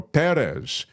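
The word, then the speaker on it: Pérez: really missed much Amelia Perez or Perez because the accent is on the uh first syllable C A thoroughly original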